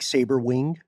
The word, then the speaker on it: Sabrewing: It's spelled Sabrewing, like saber wing. It's probably saber wing. It's gotta be saber.